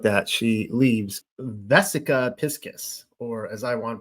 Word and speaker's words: Piscis: here we go now this is pronounced V piscus now I want to pronounce it like Pisces like Pisces but apparently it's piscus so I'm just letting